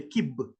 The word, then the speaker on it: kib: On ne dit pas cube parce que le U n'existe pas dans nos langues. À la place de I, on utilise I, le kib.